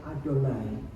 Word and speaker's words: Adonai: Ketika dikatakan YHWH, orang Israel bahkan tidak berani menyebutnya membacanya sebagai Yahweh. Tulisannya YHWH, bacanya adalah Adonai.